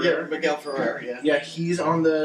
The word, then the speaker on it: Miguel Ferrer: That's how you pronounce his last name? Miguel Ferrer? Yeah, Miguel Ferrer, yeah.